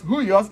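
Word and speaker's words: υἱός: So this huios, why it is pronounced as huios is because the rough breathing mark introduces an H sound to the word. So this is pronounced as H-U-I-O-S. In other words, H, upsilon, iota, omicron, sigma, huios.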